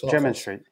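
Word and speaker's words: Jermyn Street: Am I pronouncing that correctly? Yes, German Street.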